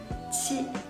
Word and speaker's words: qi: So when you pronounce these 3 initials, you need to put the tip of your tongue behind your lower front teeth. ji, qi, xi.